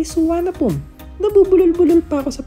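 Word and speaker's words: Suvarnabhumi: Andito na tayo sa suvarna boomi airport and trivia the name suvarna Bomi means land of gold at ang correct pronunciation daw nito ay suan pum nabubulol buulo pa ako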